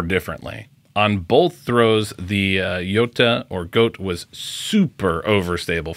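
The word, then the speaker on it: Göta: heels though we have the castaplast goat or Yota which I do think is the per correct pronunciation comment below a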